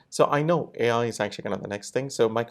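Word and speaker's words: AiKnow: Ai No right but it's pronounced as I know okay right but it's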